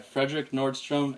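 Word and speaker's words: Fredrik Nordström: So whatever happens, Or the latest album is being produced by Frederick Nordstrom and Henrik Oud. Do I pronounce that right?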